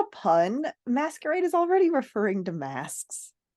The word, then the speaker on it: Maskerade: masquerade by Terry pratchet which am I saying the title right it is masquerade it is he spelled